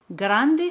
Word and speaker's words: grand: Grande se dice grand. Grand. D al final no se pronuncia. Si el adjetivo es masculino, en francés se dice grand.